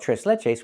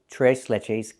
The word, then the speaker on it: tres leches: And we don't call it t leletches. We call it t leches cake.